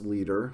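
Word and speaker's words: Lieder: and you'll notice that it is pronounced leader but not spelled like our word leader which means someone who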